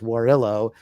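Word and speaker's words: Warrillow: interesting though and it's w-a-r-r-i-l-l-o-w john warrillo i think i pronounced it wrong it's warillo and he wrote a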